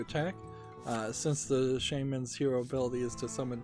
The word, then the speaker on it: shaman: So today we'll be looking at the Shaman? Yeah, it's Shaman. No W. I looked it up. You don't pronounce it Shaman, although a lot of people seem to think you do.